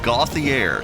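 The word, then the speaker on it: Gauthier: i re r i believe but it is pronounced got the air to receiver z2i woods the lone back to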